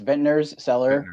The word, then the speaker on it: Vintner's Cellar: have asked this before like how do i pronounce the whole business name yeah so it's it's ventner's cellar winery uh it's in your town so it's